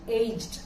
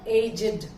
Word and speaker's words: aged: இந்த சென்டென்ஸ்ல ஏஜ்ட் வேர்பா வருது, அதோட ப்ரொனன்சியேஷன் aged. பட் adjectiveஆ வரும்போது ரெண்டு விதமா அதை நம்ம உச்சரிக்கிறோம். ஒன்னு verb aged மாதிரியே, இன்னொன்னு aged.